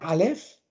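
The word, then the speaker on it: אלף: Was jetzt sehr interessant ist, war das hebräische Wort für Tausend, ist ja Aleph. Aleph, ja. Als Elef ausgesprochen.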